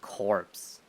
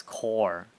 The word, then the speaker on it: corps: You don't pronounce it corpse. It's core, even though it's with a P, right?